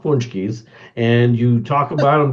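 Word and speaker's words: pączki: another no no no they're spelled paxis p a c z but they're pronounced punchies and you talk about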